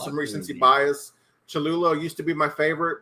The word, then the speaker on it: Cholula: Cholula.